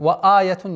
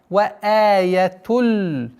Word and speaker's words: وآية لهم: Вааятун нет. Вааятуль. Здесь у нас ассимиляция без назализации. Аятулля хумуль.